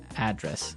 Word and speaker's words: address: you live yeah and there the stress is on the first syllable address right perfect very good